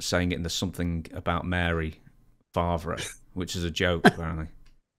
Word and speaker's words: Favre: pronounce it well I think it's they they pronounce it now Favre I guess but but I wish all of